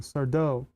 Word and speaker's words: Sardo: That's Sardo. Accent on the dough. Sardo.